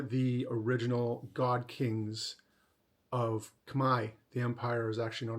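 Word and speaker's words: Khmer: cambodians they're known as Kai that's how they pronounce their language and the culture and the people they're all Kamai means the same thing uh so Cambodian is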